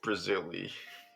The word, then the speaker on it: Brazili: In case you haven't noticed, Brazili rhymes with E. The Steely. Brazili rhymes with like Steely, really stuff like that.